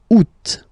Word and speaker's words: août: And then here, two options, because, well, two options are acceptable in French. The first one, you don't pronounce the final T. Ou. Second one, you pronounce it. Août.